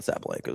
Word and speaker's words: Sabalenka: Well, we were talking about Sabalenka is the proper way to say it.